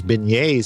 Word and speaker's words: beignets: Brian Cern says beignets. See, I pronounced it correctly.